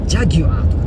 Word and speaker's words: Jaguar: あるんですねイギリスではジャギュラーとかですねそんな感じの発音らしいですねアメリカ映画ですと